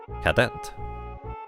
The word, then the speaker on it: cadet: Emphasis on the second syllable of cadet. Cadet.